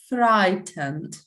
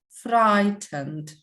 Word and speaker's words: frightened: like that in english if you have ght we don't pronounce gh we pronounce only t it's always like that